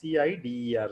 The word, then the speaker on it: CIDR: It is pronounced as CIDER, CIDR. It is read as CIDR. Yes, CIDER.